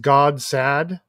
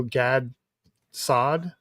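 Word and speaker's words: Gad Saad: figure out how to I've heard his name pronounced God sad, which is a really funny phrase. And also Gad Sad. I've always heard it pronounced Gads Sad.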